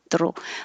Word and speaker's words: through: you may need to pull your tongue down a little bit before you curl the tip back so that it doesn't touch and say throw through but through and it doesn't matter if it's spelled like past tense of throw i threw the ball he threw a great party or the t-h-r-o-u-g-h um are you through with